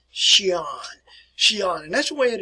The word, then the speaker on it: Xi'an: I also want to share with you something else here about the city which is called Xi'an, and that's the way it is pronounced here, folks.